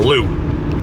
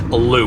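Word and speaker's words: Looe: to walk down the hill to L or Lou I looked up the pronunciation it is Lou uh not L unless you've got to more than one of them so anyway it's called Lou um so like I said we are 19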